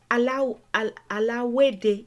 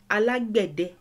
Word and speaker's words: Alágbẹ̀dẹ: So in Cuba they say alawede. Sometimes they say they sometimes write it as ALAGUEDE, sometimes ALAWEDE, but this is the correct pronunciation and current spelling. Alágbẹ̀dẹ.